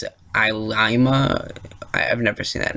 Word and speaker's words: Ilima: It wasn't anyone I knew, and they confirmed it today that Captain Ilima, I believe that's how you're supposed to pronounce it, Ilima.